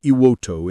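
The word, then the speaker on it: Iwo To: The island, renamed Iwoto in 2007 to restore its original pronunciation, remains under the administration of the Japan Self-Defense Forces, but is still dotted with American memorials.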